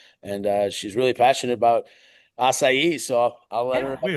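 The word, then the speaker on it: açaí: It's not pronounced a Kai. It's funny to hear people try to pronounce it. We'll do a funny video with that later. But so acai is a superfruit that's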